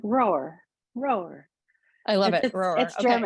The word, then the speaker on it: Rohrer: so I always say it's like rower but with a really soft W like you're rowing a boat but it's like kind of easier way through it it's like roar roar I love it